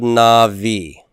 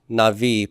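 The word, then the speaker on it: נביא: The way it's written and spelled here, how many syllables do we have? 2. We have 2 syllables. If I were to divide this into syllables, where would I make my dividing line? After na. Na-vi. Right?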